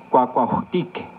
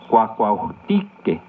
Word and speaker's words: Cuacuajutique: Cuacuajutique. ¿Escuchaste la terminación tique? Cuacuajutique. Recuerda que en el náhuatl las palabras se acentúan en la penúltima sílaba. Cuacuajutique.